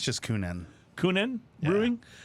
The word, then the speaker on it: Kuhnhenn: I think it's just Kuhnhenn. Kuhnhenn Brewing? Because Kuhn is Kuhn, and then it's hen, H-E-N, and so Kuhnhenn.